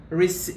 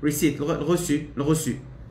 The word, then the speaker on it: receipt: you okay give us the res receipt receipt yeah it's a long e receipt okay uh if which